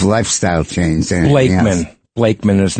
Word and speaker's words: Blakeman: Blakeman.